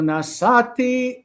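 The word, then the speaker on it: נָשָׂאתִי: Asher nasati et yadi. All right, so the accent is on the. Asher nasati. It's right there. Okay, so it's on the second syllable.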